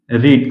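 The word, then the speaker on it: read: इसको आपको उच्चारण रेड करना है। रेड।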